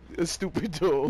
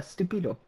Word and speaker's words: estúpido: Estúpido. Yeah, well, he's... That's how you say it, Baba. Stupido. Ah, it's estúpido.